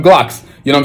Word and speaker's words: Glucks: way I want it and so I made everybody that sees the character say Glocks don't spell it how you think it is spell it how I'm telling you to say it you know what I'm saying that's exactly how you going to say it so people have to start calling them Glocks you know what I'm